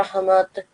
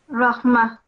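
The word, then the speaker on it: رحمة: Waj'alhu li imaman wa nuran wa hudan wa rahmat. Rahmah. It's a Rahmah. Tama, so you don't pronounce this.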